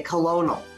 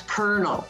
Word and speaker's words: colonel: you can pronounce it but sometimes like kernel it's completely off so you would spell that c-o-l-o-n-e naturally you would say colonel however it's kernel which from the point